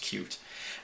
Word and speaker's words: Qt: all those things or I say QT I think it's pronounced cute anyway um it's a